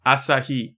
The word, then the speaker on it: Asahi: Asahi. It's all the syllables are the same duration.